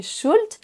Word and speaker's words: should: Tous ces mots sont piégeurs parce qu'ils ont un L silencieux. On ne dit pas walk, talk, would, could et should.